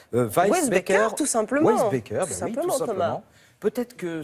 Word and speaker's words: Weissbecker: allons parler de laura alors comment ça se prononce weisbecker tout simplement beckers peut-être que ce nom ne